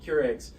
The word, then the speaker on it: Keurig: And, you know, all there was a few Keurigs. Man, y'all are going to get me with these pronunciations.